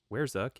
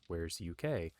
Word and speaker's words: War3zuk: uk overhaul uh and talking with the author i've been pronouncing it incorrectly it's not wherezuk it's where's uk which makes a lot more sense anyway it is the morning of day 11.